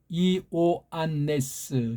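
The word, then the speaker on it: Ἰωάννης: 요한에 대한 헬라어 발음은 알죠? 이오안네스. 주격이 그거예요. 이오안네스. 이오를 빨랑하면 요라고 나올지라도 요랑 이오는 다른 글자예요.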